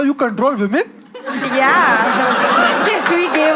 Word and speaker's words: CTRL: Control. But it's spelled like CTRL, but it's called Control.